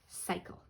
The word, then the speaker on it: cycle: This C is a hard C because it comes after Y. It doesn't come before I, Y, or E. So this is pronounced cycle, like a wash cycle